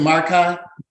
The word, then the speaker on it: Marcai: Antonio Antonio marcai okay you pronounce it Mark High Mark I yes sir okay I'd like